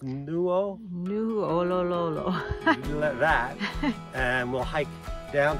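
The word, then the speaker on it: Nuʻalolo: like that, to the other trailhead, which is pronounced Nu'ololo.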